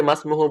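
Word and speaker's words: ما اسمه: হ্যাঁ, ইসমুনের যে হামজাটা আছে এই হামজাটা ওয়াসলি, এটা যখন মাঝে আসবে তখন এটা আর উচ্চারণ হবে না, তাই না?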